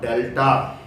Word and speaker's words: delta: Okay, here I call d or delta. The symbol, triangular symbol, is pronounced as delta.